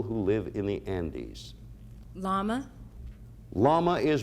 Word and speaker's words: llama: Llama. Llama is right.